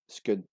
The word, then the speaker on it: scone: In at number 10 we had scone, which in Scotland is actually pronounced as scud, like spoon.